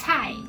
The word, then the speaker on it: 菜: 你喜欢的一道菜 "Cai" "菜" is not very easy to pronounce, 不太容易发音 so let's repeat it, 所以我们再唸一次 "ts..."